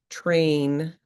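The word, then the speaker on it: treinta: So it's pronounced train for example e and then we say one uno train.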